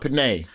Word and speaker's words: penne: And it's penne. I don't know how you say it, but it's penne. I'm from Alabama. We call it penne.